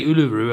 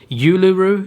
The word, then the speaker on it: Uluru: it pronounced it's not i used to say uluru apparently is that's not it's pronounced uluru you you the big